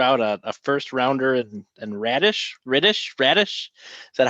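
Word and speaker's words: Raddysh: I think Boltman threw out a first rounder and Radish. Is that how you say it? Radish, yeah.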